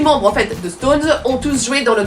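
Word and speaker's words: SixTONES: le reste en majuscule, parce que comme ça se prononce Stones.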